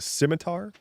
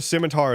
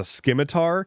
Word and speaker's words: scimitar: Um he did refer to a scimitar as a schimitar and he also did refer to rogues as rajus.